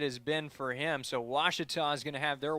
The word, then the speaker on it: Ouachita: university back in texas everybody pronounces it wichita but really it's ouachita washington washington how would you pronounce it it's washita baptist university get it right it's